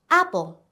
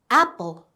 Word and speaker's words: apple: Apple. Apple. Don't forget the ending sound. L. Apple.